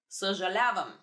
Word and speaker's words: съжалявам: The Brazilian people would understand perfectly what I'm talking about because they have this sound. But if you don't, stress on съжалявам.